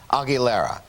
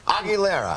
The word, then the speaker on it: Aguilera: Christina Aguilera. Christina Aguilera.